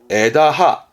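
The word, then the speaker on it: 枝葉: 그러면 발음은 에다하.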